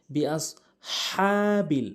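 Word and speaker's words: بِأَصْحَابِ: সঠিক উচ্চারণ হচ্ছে বিআসহাবিল। হাটি হলকের মাঝখান থেকে উচ্চারণ করতে হবে এবং এক আলিফ টেনে উচ্চারণ করতে হবে।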